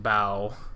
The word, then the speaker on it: bow: stopped him and said hey wait it's pronounced bow for in terms of ships and yeah I don't